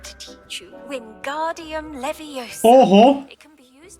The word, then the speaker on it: Leviosa: Teraz wymowa. Widziałam pornosa. Mówisz to źle. Jest Leviosa.